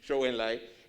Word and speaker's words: Zhou Enlai: Enlai, Zhou Enlai, sí, Zhou Enlai, ¿cómo se pronuncia? Eso mismo, Zhou Enlai, es impresionante el énfasis que se le ponía